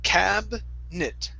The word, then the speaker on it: cabinet: Right here, instead of cabinet, okay, the I is silent. So it's cabinet.